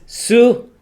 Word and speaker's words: Xu: Now, the only reason why I got that right is because I pronounced it as an American. But if you read it, it's XU Right. for Sue, Yes. and then how you spell the last name, KHUC. and you get Cook out of that.